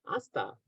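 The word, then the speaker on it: hasta: Aasta. Oh, okay. Mhm. Until. Okay. Okay. Yeah. Until aa until this time you're going to use aa. Okay. By the way, h is silent, right?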